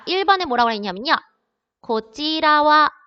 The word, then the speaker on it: こちらは: 고찌라와 할 때 얘를요. 제가 뭐로 읽었어요? 와로 읽었어요. 조사로 은는의 뜻일 때 은는의 뜻일 때는 와로 읽는다고 했습니다. 고찌라와 이쪽은 할 때 와라고 읽는 거.